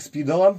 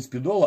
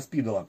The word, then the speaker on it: Спидола: Портативный транзисторный радиоприемник Спидола, именно вот так он произносится, не Спидола, а Спидола, с первого квартала 1960 года выпускал Рижский государственный электротехнический завод ВЭФ.